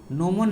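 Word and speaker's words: gnomon: Okay चलिए, तो ये टाइम आपने के लिए यूज कीजिएगा, किसका, जीनोम डिवाइस का ना। नोमोन नाम है, देखिए जीनोम पढ़ रहा हूँ। नोमोन डिवाइस है, जी साइलेंट होता है ना।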